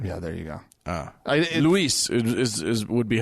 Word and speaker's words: Luis: Luis is would be how you pronounce that name, by the way, if he's Spanish.